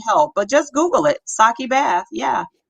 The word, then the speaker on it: sake: So the E is an A, like Spanish.